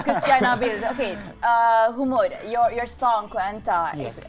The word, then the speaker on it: Humood: The pronunciation of the name again, please. Humood.